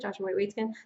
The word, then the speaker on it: Joshua Waitzkin: And lastly, we did get a book recommendation, and it is The Art of Learning by Joshua Waitzkin. That's how you pronounce it, Joshua Waitzkin.